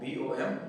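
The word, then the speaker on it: bomb: बल्कि में हम बॉम्ब, बी जो है वो ये साइलेंट हो जाएगा और हम इसे सिर्फ पढ़ेंगे बॉम्ब, BOM, बॉम्ब।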